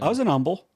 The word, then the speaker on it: Humble: dude I was in Umble I don't even know that is Umble is spelled humble but they just don't say the H you're welcome Umble is